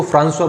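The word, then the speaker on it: François: एंड पेंटाग्रुएल राबले की, फ्रांसवा राबले या फ्रांसिस या फ्रैंकोइस भी कह सकते हैं, उच्चारण इसको फ्रांसवा बोलते हैं।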